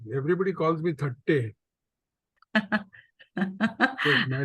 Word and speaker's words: Thatte: And more congratulations because you have pronounced my name correctly. Everybody calls me Thatte. Yes, my name is Thatte.